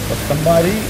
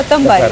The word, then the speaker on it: Kothambari: Kothambari. Adhe. Kothambari. Okay, that's how it's pronounced.